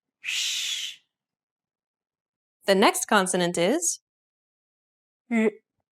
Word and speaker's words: 日: It almost sounds like a mix of an R sound and a Z sound. Listen to how Yinru pronounces this sound. 日, 日, 日, 日.